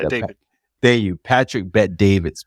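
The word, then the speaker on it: Patrick Bet-David: Bet David.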